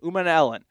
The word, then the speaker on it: Umanmielen: wrong, but it's Princely Umanmielen. It's like Ellen DeGeneres kind of at the end. Umanmielen.